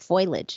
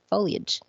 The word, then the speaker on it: foliage: goes honey it's it's it's not foliage it's foliage hmm really he's like yes